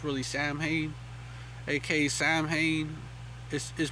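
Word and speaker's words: Samhain: know Halloween AKA s s just spell it's pronounced that way but it's really Sam hay AK Sam hay is is pronoun is spelled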